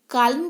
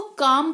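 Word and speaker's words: calm: काल्म पढ़ें इसको, चलेगा? नहीं, इसको काम पढ़ते हैं। क्या पढ़ते हैं? काम। क्योंकि एल जो है यहाँ पे साइलेंट है, एल साइलेंट रहेगा, इसी वजह से अब एल को हटा दीजिए, क्या बन गया? काम बन गया ना। तो इसको पढ़ेंगे काम।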